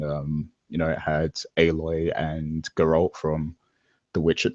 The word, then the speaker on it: Aloy: has Galt and um I forget how to pronounce her name now um The Cho aloy aloy yeah yeah exactly from from Horizon zero Dawn